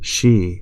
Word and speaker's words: Xi: zi in greek and in china xi is pronounced she like president xi of china so i think that's